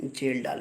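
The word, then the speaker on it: Kjeldahl: Nitrogen को estimate करने का 2 मेथड लगता है, एक है डुमास मेथड, दूसरा है जेल डाल मेथड। के साइलेंट होता है, डुमास मेथड और जेल डाल मेथड।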